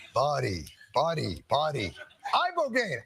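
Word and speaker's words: ibogaine: Eyeball gain. Eyeball gain.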